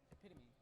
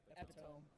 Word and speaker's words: epitome: Oh, that's not how you pronounce it. Epitome. Yes. Yeah. When I first read it, epitome.